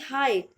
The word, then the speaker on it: height: Next word is HEIGHT, हाइट। हाइट यानी ऊंचाई, और इसमें भी GH होता है साइलेंट।